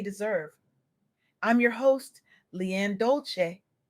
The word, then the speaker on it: Dolce: I'm your host, Leanne Dolce, pronounced dolasay, like sweet softness whispered in French.